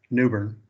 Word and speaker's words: New Bern: I took a trip to New Bern, which they pronounce around here New Bern. So New Bern is now New Bern, like New Orleans is like Nolans.